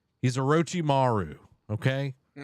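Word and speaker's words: Orochimaru: He's a Rochi Maru.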